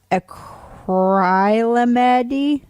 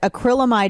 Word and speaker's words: acrylamide: It's spelled ACRYLAMIDE, acrylamide. Yeah, so there's two vowels technically after in that syllable, so the first one would be long.